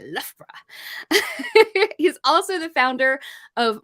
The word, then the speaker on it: Loughborough: Loughborough? You did. It's really fun to say, Loughborough.